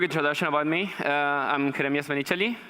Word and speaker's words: Jeremias Menichelli: about me I'm in creamiest initially I'm pronouncing my name like that because I'm from Argentina and currently I'm living